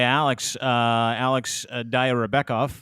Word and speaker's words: Alex Dayrabekov: So our boy Alex Dayrabekov.